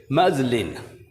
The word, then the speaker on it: muslin: म आ साउंड, ज ल इ न, मजलिन।